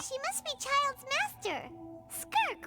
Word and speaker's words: Skirk: Skirk, right? Skirk. Okay. It was the impression That's how you she was, pronounce that.